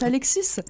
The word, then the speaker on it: Alexis: Je viens d'apprendre que ça se prononce Alexis.